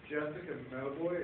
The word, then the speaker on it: Jessica Mauboy: Jessica Mauboy, is that the pronunciation of the Yes.